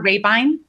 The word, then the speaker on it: Raybine: If you if you heard me pronounce it, you wouldn't know how to spell it. If you see it in writing, you won't know how to say it.